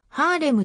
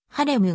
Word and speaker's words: ハレム: たといわれる日本語ではハーレムと呼ぶこともあるが学術的にはトルコ語の発音に近いハレムが一般的である英語では hr